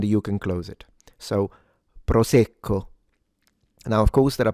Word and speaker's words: Prosecco: This is pronounced proco proco proco proco. All right, let's analyze it. A light trill of the r. Don't exaggerate it.